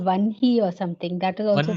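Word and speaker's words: वह्नि: We pronounce it Vanhi, but we write it Vahni.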